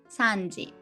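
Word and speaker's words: 三時: for one o'clock two o'clock niji three o'clock sanji four o'clock five o'clock koji six o'clock lokuchi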